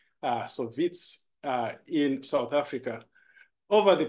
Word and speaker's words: Wits: It always gets me, why have a W when it's supposed to be pronounced as a V? So Wits in South Africa.